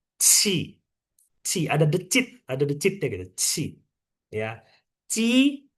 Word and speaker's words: jia: Misalnya kalau aku kasih Sinta JIA, bacanya gimana? Sinta. Cia. Cia. Oke. Cia.